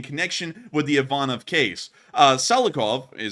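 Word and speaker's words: Tsalikov: Salikov, was just how you actually pronounce it, not Taslikov or however I was saying it, has been described as a patron of Ivanov.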